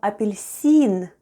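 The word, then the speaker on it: апельсин: e and n and all together we have apilicin with the stress on the last syllable apilicin try saying it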